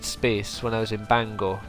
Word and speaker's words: Bangor: when I was in Bangor perhaps or Banger as people say it's supposed to be pronounced uh and maybe I